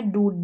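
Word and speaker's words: dude: यहाँ पर है डूड, क्या है, डूड, ड्यूड नहीं बोल रहे, यू वाला साउंड नहीं आ रहा, ऊ का साउंड आ रहा है, बड़ा ऊ।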